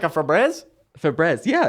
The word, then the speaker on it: Febreze: all but uh well i always say a fabrezi but febreze febreze yeah is it spelled